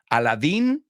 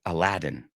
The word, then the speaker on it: Aladdin: Tarzan yeah we don't pronounce anything alike Aladin we say Aladdin yeah yeah my poor